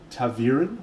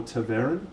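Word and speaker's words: ta'veren: five characters they're all a thing called tavirin or tavern depending upon how you choose to pronounce it and tavarian is another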